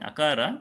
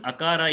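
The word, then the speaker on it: अकार: So when you are saying akara, if you want to say it correctly, the right way in Sanskrit, you should not be opening your mouth. Okay, samvrita is essentially closing the mouth.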